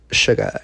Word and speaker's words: Suga: Suga, yeah.